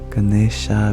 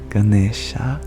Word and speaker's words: Ganesha: meant ganesa same same in modern times especially in the north of India people drop the final a sound at the end of words Ganesha becomes Ganesh Shiva becomes shiv R becomes Ram Krishna becomes Krishna but in Sanskrit it is indeed Ganesha trador Sara you are